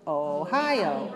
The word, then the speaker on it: Ohio: Ohio.